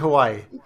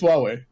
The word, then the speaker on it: Huawei: looks like Hawaii I'm just gonna pronounce of Hawaii no no it's Huawei whatever okay all right